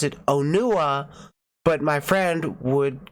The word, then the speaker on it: Onua: the movie and you could hear them clearly pronounce it onua but my friend would call it Anya Anya yeah so you have no problem we